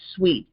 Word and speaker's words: suit: lawsuit or a suit they called it a sweet it's actually pronounced sweet sui sweet um this is a